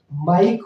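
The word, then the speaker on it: mike: आप क्या पाएंगे कि ई तो है लेकिन उसका उच्चारण नहीं है स्ट्राइक स्ट्राइक का मतलब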